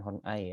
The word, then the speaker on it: Horney: Kemudian Karen Horney, bacanya Karen Horney ya.